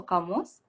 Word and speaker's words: kamus: And do you say it also kamus? We don't pronounce the kaf. We usually say it like it's kaf, so kamus.